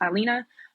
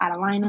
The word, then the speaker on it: Adelina: it looks like Adelina. If you were to ask anybody in the dictionary, it'd be pronounced Adelina, but my parents pronounce it Adelina, and so Okay. that's how I pronounce it.